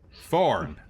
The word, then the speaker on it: Forn: forn is the name forn forn rhymes with one of my favorite words love me some corn all right good night